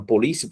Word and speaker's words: polícia: Depois de saber que eles entregaram a palavra polícia, por exemplo, a primeira coisa que vocês vão fazer é separar as sílabas. Polícia. E aí você vê que o li, ela vem acentuada não na última sílaba.